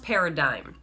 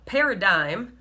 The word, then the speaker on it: paradigm: keynote so it's pronounced paradigm now paradigm sounds like pair of Dimes which sounds like 20